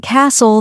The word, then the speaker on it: castle: H is silent and Castle the t is silent that's true and the